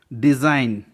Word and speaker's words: design: Example, डिज़ाइन, DESIGN. जी के बाद एन आया है इसलिए एन साइलेंट है. डिज़ाइन. रिज़ाइन, जी के बाद एन है इसलिए जी का प्रोनाउंसिएशन नहीं हुआ है, जी साइलेंट है.